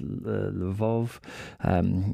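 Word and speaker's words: Lviv: the west of Ukraine near lever or pronounced levov in the west um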